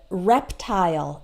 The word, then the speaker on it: reptile: like smile okay pile tile as well as reptile and profile like your Facebook profile okay we don't pronounce it like all in cases we pronounce